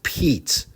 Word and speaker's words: Pete: But if you add the letter E to the end of pet, it's no longer pet, it's Pete. P-e-t. That's silent. Silent E. We forget about it as